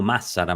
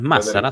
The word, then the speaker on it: Massara: Se habla de Massara justo, o Massara más bien tendría que ser pronunciado. No es Massara, son dos S. Massara.